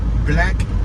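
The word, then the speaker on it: Blaque: We got Black Boutique on my right, spelled with a Q. B-L-A-Q-U-E, Black.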